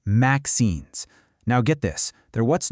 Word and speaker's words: MXenes: They're called MXenes, and you pronounce that maxenes.